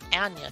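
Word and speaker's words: Anya: Ana Taylor Joy sorry Ana Taylor Joy it's pronounced like an aneurism according to the actress herself then let's move on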